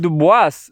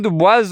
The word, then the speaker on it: Du Bois: Du Bois himself insisted on English, not French pronunciation.